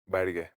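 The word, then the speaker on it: ಬ್ಯಾಡಗಿ: I need what's the correct pronunciation? Bedige or badige? For what? The menshinkai. Oh, ಬ್ಯಾಡ್ಗೆ ಮೆಣಸಿನಕಾಯಿ.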